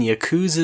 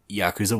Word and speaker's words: Yakuza: Well, I have been playing Yakooza Zedro. Zedro? I was just double mispronouncing there.